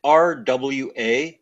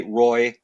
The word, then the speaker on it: Roy: this way if you spell it if you pronounce it RWA you'll probably do really well if you say Roy I'll endure it oh I see I'll endure